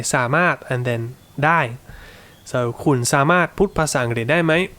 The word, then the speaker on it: สามารถ: to make is that when you start speaking quickly, it will often just become สามารถ so here you will just say สะ without really any intention for a specific tone. Okay, just get the pronunciation SA in your head, right? คุณสะ and then say the มาด properly.